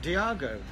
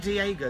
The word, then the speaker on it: Diago: Diago oh that's nice I know it's not Diego because I got I got corrected once yeah so you think of San Diego San Diego's d-i-e-g-o Diago his name is spelled d-i-a-g-o Diego yeah which I